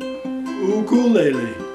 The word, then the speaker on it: ukulele: And they said I should be saying ukulele or something similar to that.